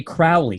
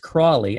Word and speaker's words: Crowley: always want to say Crowley when I see his name written down but no it's pronounced Crawley as in this he is the snake in the Garden of Eden crawling around tempting Adam and Eve